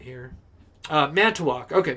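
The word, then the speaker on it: Manitowoc: it right here uh man to walk okay man to walk i was gonna say it with a w for some reason so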